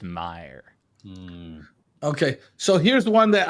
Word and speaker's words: Oscar Mayer: So apparently it's called Oscar Mayer and not Oscar Mayer. It's just pronounced Oscar Mayer.